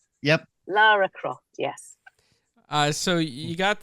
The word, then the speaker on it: Lara Croft: Yes, Americans usually say Laura. Yes. And that just sends the British people. It's like, oh my God. It's Lara. Lara, for goodness sake. Yep. Lara Croft, yes.